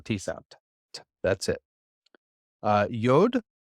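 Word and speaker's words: יוד: set that's it uh yod and it's just the yep sound so Y sound a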